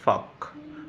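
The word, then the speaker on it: folk: Topic হচ্ছে ফাক music এফও এল কে যেটা উচ্চারণ হবে ফাক ফাক মানে হচ্ছে লোকো বা অনেক মানুষকে একত্রে ফাক বলা ইংরেজিতে পিপলের একটা সিনোনিম বলা যায়।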